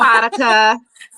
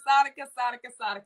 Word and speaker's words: Saadiqa: I always say your name wrong. I am so sorry, beautiful. Saadiqa. Yes. Saadiqa.